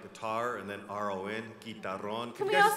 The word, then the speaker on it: guitarrón: It's kind of spelled like guitar and then R-O-N, guitarrón.